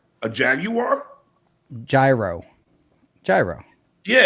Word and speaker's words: Jaguar: Yeah, the car is a jaguar. It's not a jaguar. It's a jaguar.